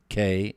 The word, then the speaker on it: Knapik: The K is silent, so just go to. You got that? Knapik.